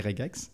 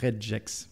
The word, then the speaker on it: regex: se prononce regex pas redjex parce que c'est le J dur de regular maintenant vous pouvez bitcher